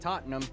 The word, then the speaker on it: Tottenham: to the next big team let's talk about tottenham hotspur and yes it is pronounced tottenham not totten ham the language is named after